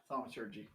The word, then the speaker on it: thaumaturgy: Yeah, thaumaturgy.